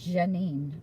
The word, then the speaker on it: Janine: but my name's Janine, so it's actually Janine. My dad named me, and he pronounced it that way. He wanted his daughter to have a French name.